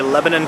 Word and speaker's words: Lebanon: Here are my final thoughts on the Lebanon Transit.